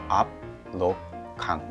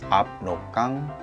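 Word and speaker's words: 압록강: So I'm gonna tell you that one, how to pronounce it, the Amrokgang, the most longest river name. Amrokgang. Let's follow me and repeat it 3 times. Amrokgang, Amrokgang, Amrokgang.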